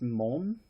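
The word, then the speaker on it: 門: part one all right those are gates it's pronounced Mon and there are a couple other pronunciations mom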